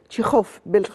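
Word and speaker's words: Чехов: كاتب انطوان تكاف هو تكاف احنا بننطق بالل المصر تكاف بس هو بالروسي او في بلاد اخرى بينطقوا تشيخوف بالخا زي مثلا اجس كريستي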